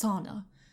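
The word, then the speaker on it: Sedna: the Inuit goddess called sana spelled SED in a in case you want to look it up but pronounced sauna nothing to do with sweating in a hut that I know of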